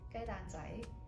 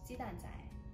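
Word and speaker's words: 雞蛋仔: But in Cantonese, we pronounce it gai dan zai, or Mandarin, it's pronounced ji dan zai.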